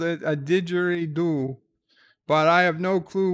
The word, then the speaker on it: didgeridoo: I think I know how to pronounce it. I'm the one that's Australian, eh? Didgeridoo.